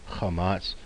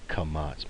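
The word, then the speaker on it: קמץ: And you might have heard me before out calling this chamats. We'll see there's a letter in Hebrew called a chet that gets that kind of back of the throat. It's a guttural. I think it's more accurately pronounced like kamats, more like a kamats.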